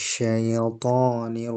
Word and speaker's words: শাইতানি: মিনাশ শাইতানির রাজিম আচ্ছা আপনার আরেকদিন বলছিলাম যে ইয়ার যে উচ্চারণ না এটাকে আরেকটু হালকাভাবে আওয়াজটাকে সোজা রোজা রেখে অর্থাৎশাইত শাইত এখানে যেনশাইশাই এভাবে আওয়াজটা না হয় শাইতানি শাইতানি এরকম হবে জ আউজুবিল্লাহি মিনাশ শাইতানির রাজিম বিসমিল্লাহির রাহমানির রাহিম।